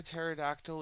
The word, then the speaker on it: pterodactyl: can't you hear a pterodactyl in the bathroom? And of course, most people have heard that joke, you know, because the P is silent, right?